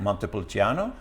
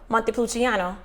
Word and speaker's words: Montepulciano: will mute that salt a little bit okay pronounce the name for me one more time montepulciano montepulciano that's a long name and there's multiple channels